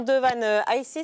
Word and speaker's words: Devan Aissé: Le magicien Devan Aissé, c'est comme ça qu'on prononce son nom, a fait une grosse crise d'angoisse comme il n'avait jamais connu.